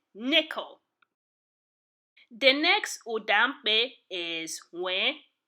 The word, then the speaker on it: Nw: The next Ụdaume is Nwe. It is pronounced as in the letters W-I, Nwe, in the English word wimpy.